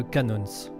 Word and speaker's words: Cannons: On va parler de Canons, ou Canon, je sais pas trop comment le prononcer, il me semble qu'à l'américain, vraiment à la manière américaine, on dit Canons avec le S, mais en tout cas